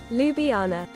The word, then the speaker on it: Ljubljana: How do you pronunciation? Ljubljana. Ljubljana.